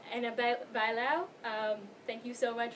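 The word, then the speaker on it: Ana Bailão: Anna Bilo. Annab Bauo.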